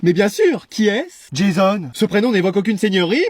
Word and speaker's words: Jason: Jason. Ce prénom n'évoque aucune seigneurie, mais allons, soit. Bonjour, madame. Bonjour, Jason. Ouais, ça se prononce plutôt Jason, comme à l'américaine.